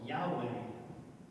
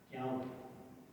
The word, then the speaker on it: Yahweh: Yahweh. We don't know exactly how to say it. We settled on, did he just read it? Pretty much settled on Yahweh.